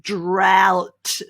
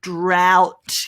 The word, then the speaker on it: drought: enough water drought now the pronunciation and the spelling of this word is completely different i've tried to simplify it for you and the way that i pronounce it sorry the way that i've written it is drought ow ow drought drought can you try that that's right drought very good a lot easier than o-u-g-h-t isn't it drought well done